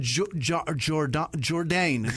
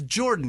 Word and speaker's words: Jordan: That's like me going Jourdain. It's definitely Jourdain. No, it's Jordan, you fucking idiot.